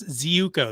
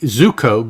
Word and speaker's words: Ziuko: Do you know Thomas Ziuko? That's how I've always said it. Okay, that sounds fine, because it can't be Zuko, because who is that?